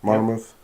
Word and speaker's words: Monmouth: They have, on December 9th, Monmouth. Is that how you say it? Monmouth. Monmouth.